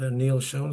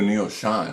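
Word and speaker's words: Neal Schon: When you went to the Bay Area, tell that Neil Schon story.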